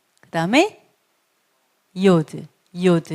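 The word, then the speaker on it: י: 't' 소리 , 그다음 Yod, Yod, 그러니까 'y' 소리 , Yod.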